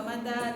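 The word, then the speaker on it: متى: Bacanya yang panjang taknya. mata. Jangan dibalik mata. Kalau dibalik mata artinya jadi mati. Ya, jangan kebalik ya, banyak pendeknya.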